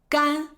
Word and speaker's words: 干: 他精明干练 He is smart and capable 接下来，我们来看这个字的另一个读音 Next, let's talk about another pronunciation of this word, 干 gān 干就是没有水分 Without moisture, it's dry.